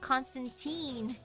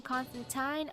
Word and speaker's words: Constantine: You know, I would have thought Constantine, but if it rhymes with fine, Constantine, oh, oops.